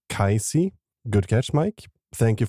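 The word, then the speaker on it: Cayce: Mike also highlighted that the sleeping prophet name is probably pronounced kisy good catch Mike thank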